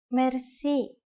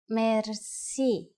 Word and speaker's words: merci: you will be amazed which word that is merci merci merci is a lone word from french but it is pronounced with the typical bulgarian heart r it